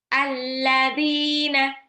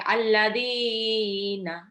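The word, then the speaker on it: الذين: cukup satu ayunan saja jadi misalkan ini saya baca contohnya ya alladzina ini enggak sampai alladina enggak cukup satu ayunan alladzina yuminuna alkitabu yuqimuna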